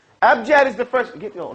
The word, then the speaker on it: abjad: no Gene everybody say abjad how wise man fast Curry shot say abjad AB Jed abjad is the first get